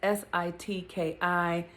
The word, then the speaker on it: Sitki: um woman who or her name is pronounced it's s-i-t-k-i sitki and she she evokes